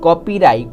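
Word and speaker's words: copyright: को पढ़ेंगे ना कॉपी जब भी किसी वर्ड में आपको आई जी ह आई जी ह एक साथ दिख जाए तो यहां पे ग आपका साइलेंट हो जाएगा और जो आई है आई की आई की साउंड आएगी आई के जी ह हमारा साइलेंट हो जाएगा और यहां पे यही हो रहा है तो आई की साउंड आई की आएगी तो हम लिख देते हैं I don't get राइट कॉपीराइट कॉपीराइट जे के साउंड आएगी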